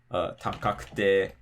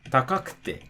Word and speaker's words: takakute: Again, the drop is going to be before the ku. So, yokute, takakute, mijikakute. And so, again, you can think of it in terms of, oh, it doesn't matter how many syllables long the word is. It's not heiban, which means it drops before the ku.